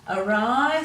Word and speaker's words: awry: Awry, so the W is silent, but the I sound at the end of a word, we can use Y for the long I sound at the end of a word.